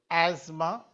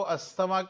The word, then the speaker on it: asthma: The pronunciation is asthma, but हम Indians उसको अस्थमा नाम से भी जानते हैं.